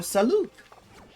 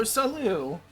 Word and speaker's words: salut: You may say good morning or hello as a greeting, but people from elsewhere may say bonjour or salute. You don't pronounce the t or saloo.